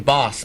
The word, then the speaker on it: Bos: You pronounce that name Boss, by the way.